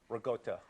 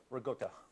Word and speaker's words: ricotta: It's ricotta and not ricotta like this.